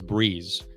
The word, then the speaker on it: Breeze: big shout out to now that I know how to pronounce their name as Breeze I was pronouncing it brez last week and they sent out